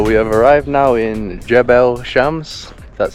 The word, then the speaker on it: Jebel Shams: So we have arrived now in Jebel Shams, that's how you pronounce it.